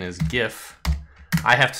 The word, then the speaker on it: GIF: Utah image file type of thing much debated pronunciation is gif I have to say it out loud and I won't allow you to claim that it's jiff even though the creator of the format thinks